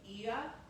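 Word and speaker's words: Oia: And so the like this famous view of the whitewash buildings with the blue roofs is in the city of Iaum. O I A, but it's pronounced IA.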